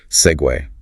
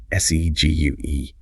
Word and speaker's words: segue: Segue. See gu. Looks like it should be seg maybe or cg, but it's an Italian loan word actually and it keeps its two-cllable sound.